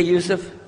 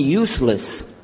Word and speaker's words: Yusuf: My name is Yusuf. Can you say Yusuf? You say Yusuf. You're very good. I wish you'd teach my wife. She keeps mispronouncing it. She calls me useless.